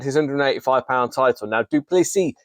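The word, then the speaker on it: du Plessis: 185 pound title now dupy the S is silent uh is fantastic because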